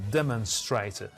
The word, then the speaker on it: demonstrate: The first syllable is stressed, and demen, the second syllable, the vowel sound is schwa. It's not o, demon, or a, it's a, demen, demonstrate, both in American and British.